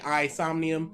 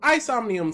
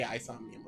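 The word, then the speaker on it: AI Somnium: dilemma or whatever um actually don't know how to say it i say i insomnium yeah isomnium sounds about right aison the somnium files you're right oh so it is a isomium okay cosmonaut we have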